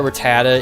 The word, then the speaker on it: Rattata: Not only that, but I know that Rattata isn't Rattata, it's Rat-Tata, but I mean, I'm gonna say Rattata anyways.